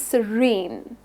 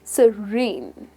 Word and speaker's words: serene: Now, the pronunciation is serene. You're going to stress the second syllable, which is serene. Say it once again, serene.